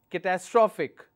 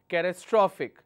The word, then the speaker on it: catastrophic: have four syllables catastropic the rules says since this is ending with IC my stress will be on the second one so I'll mark this red catastrophic catastrophic all right another word